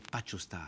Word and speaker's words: Patchostar: Est-ce que j'ai bien prononcé Pacho Star? Oui, exactement, c'est comme ça qu'on le prononce.